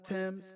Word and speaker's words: Tems: how that second songwriter Tim's t-e-m-s is how she has these uh how they pronounce the name made a bold-fashioned statement